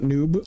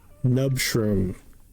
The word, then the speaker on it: Nub shroom: Is nub like tub, not noob? Oh, my bad. Tub shroom. Got it. Nub shroom.